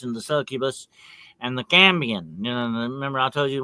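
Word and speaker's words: cambion: The cambian this is called that's spelled C A M B I O N.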